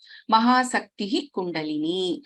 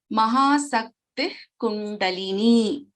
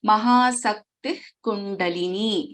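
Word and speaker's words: Mahāśaktiḥ Kuṇḍalinī: Mahasaktihi Kundalini. So we don't pronounce the complete visarga over here. Mahasakti Kundalini. So half visarga, and we chant, we pronounce the letter ka. Mahasakti Kundalini is the pronunciation in this case.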